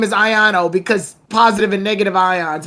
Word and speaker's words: Iono: It's Iono. It's positive and negative ions.